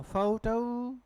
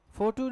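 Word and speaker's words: photo: लिखा है देखिए, हाँ, फाउटू, डिप्थोंग है दोनों ही, फाउटू, फोटू नहीं, फाउ और टाउ, डिप्थोंग औ और डिप्थोंग औ, दैट इज फोटो नहीं, फोटो है जी,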